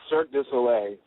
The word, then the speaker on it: Cirque du Soleil: What is the correct pronunciation of it? It's Cirque du Soleil, so Cirque du Soleil, Cirque du Soleil.